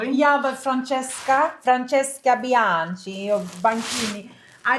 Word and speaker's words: Francesca: So, it's Francesca Yankee. Okay, that's it. And C H E is like the wine.